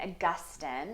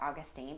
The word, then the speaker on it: Augustine: so after um St Augustine is how you pronounce that name as opposed to Augustine but St Augustine develops